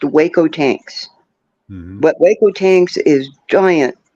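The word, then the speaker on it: Hueco Tanks: certain Meridian you end up at what is pronounced Waco tanks but Waco tanks is giant boulders and they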